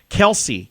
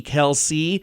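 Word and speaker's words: Kelce: And it's K-E-L-S-E-E, Kelsey, or Kels. You can also say you don't need to pronounce the E's. So there's two ways to pronounce his name.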